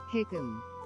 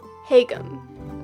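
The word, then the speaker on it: haegeum: It's a Korean instrument. Hagum. Hagum. Okay. That makes sense.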